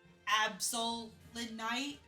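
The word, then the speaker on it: Absolite: Unfortunately, we can't use Mega Absol because the Absol Night, that's how you say it, is post-game.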